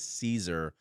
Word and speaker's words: Siser: pronounced so siser is Caesar and back to my buddy Joe uh who's done a ton of content obviously for Caesar it's like the salad Caesar like the salad and the name simply